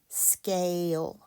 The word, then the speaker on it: scale: It's a long A. Scale, scale. The E is silent, one syllable.